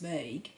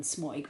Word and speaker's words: Smøyg: Actually, the O with a slash through it is an sound, so it's Smøyg rather than Smøyg, but you know, I'm Australian, so I don't really pronounce these things properly.